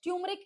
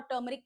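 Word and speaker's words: turmeric: ऐसा नहीं है, both the pronunciations are correct. ट्यूमरिक is more of एन अमेरिकन pronunciation और टर्मरिक क्या है, ब्रिटिश प्रोनाउंसिएशन है।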